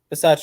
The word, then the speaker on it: Bisaccia: Bisaccia, yeah.